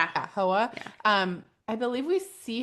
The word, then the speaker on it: Hoa: Is that how they pronounce the name? Right. Yeah. Yeah. Hoa.